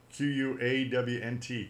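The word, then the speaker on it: Qwant: It's from France, Quant, and it's spelled just like you think it sounds, Quawnt, Quant.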